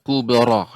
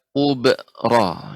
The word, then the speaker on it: الكبرى: Ya, alhamdulillah Ummu Kulsum ya, koreksiannya jadi apa namanya pada kata kubara ya. Ini harus nanti dilatih di rumah pengucapan kubara tidak kubra ya.